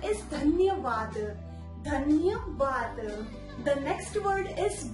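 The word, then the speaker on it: धन्यवाद: or with any items, then you must reply dhanyavaad. They will feel very kind that you are thanking them. So the Hindi pronunciation is dhanyavaad.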